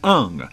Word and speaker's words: Hung: two high desert triumph Maxine hung rhymes with young scholar athlete fast extraordinary